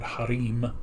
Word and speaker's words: harem: Or although they pronounced it in the episode Harim, which may be the Arabic pronunciation.